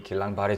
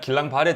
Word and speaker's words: 길랑바레: 대표적인 게 바로 이 길랑바레 증후군입니다. 프랑스 신경학자가 이름을 붙인 질환이어 가지고요. 그래서 영어로는 발음이 다른데 우리나라에서는 길랑바레라고 이렇게 네, 번역을 하고 있더라고요.